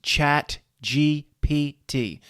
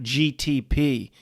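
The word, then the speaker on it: ChatGPT: McKinley, if you get my name wrong a few more times, it's Chat GPT, not GTP, you dumb human.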